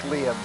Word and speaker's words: Liam: And your commentator has just realized that he's been pronouncing this guy's name wrong the whole time. It's Liam. So, Claim has had a name change, and it's now Liam. the correct way to say it.